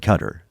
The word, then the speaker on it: Qatar: say Qatari right but I met someone from cutter and they were a uh they said cutter so I'm just following they say that okay yeah but then why do we say it wrong like they told us like the Americans told us the wrong way to say it from the beginning then